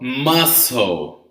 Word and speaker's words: mussel: It's called mussel, okay? Mussel has the same pronunciation as the muscles of your body, right?